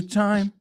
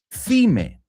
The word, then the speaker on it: thyme: Y se escribe T-H-Y-M-E. Thime. Pero se pronuncia time.